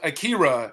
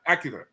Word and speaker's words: Akira: Ryu but for example I go with Akira and not Acura right you know what